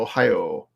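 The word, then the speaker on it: ohayō: here ohio so it's basically like ohio the state right uh but with a long o at the end so ohio um and so this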